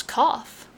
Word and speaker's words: cough: a bit of it c-o-f spells cough yes but cough has a silent u and a g-h with the sound of f there i grant is